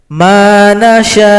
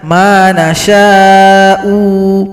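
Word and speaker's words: مَن نَّشَاءُ: Kalau di sini kita berhenti, kebetulan ada waqaf qaflam, al-waqfu aula, lebih diutamakan kita berhenti, maka hamzah disukunkan saja. Manasya Jangan sampai dibaca manasya'u, itu salah. Hamzah langsung disukunkan.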